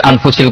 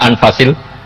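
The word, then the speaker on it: أنفس: saya saja di sini ditulis anfusil kutub saya baca anfasil kutub karena maknanya kitab ter baik Kalau kitab terbaik bacanya bukan anfus tapi apa anfas ya nanti kamu debat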